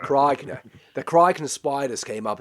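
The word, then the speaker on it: Krykna: they use that idea and the Kroikna. You got to say it like an Australian. Krogna. Krogna.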